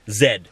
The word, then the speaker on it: Z: In Canada, we pronounce Z, Z.